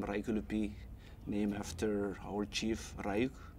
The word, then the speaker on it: Raiukiulipiy: is my baptismal name and my name reichelupi named after our chief reich and his younger